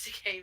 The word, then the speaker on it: Takei: It's George Takei because I'm gay. George Takei because I'm gay.